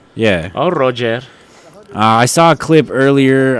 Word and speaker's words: Roger: It's his name is spelled Roger Gracie, but it's like Royer. I think they call him. Yeah, it's Brazilian, right? Yeah. Oh, Roger.